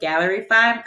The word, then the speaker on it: Gallerify: It's called Gallerify, so like gallery, but Gallerify.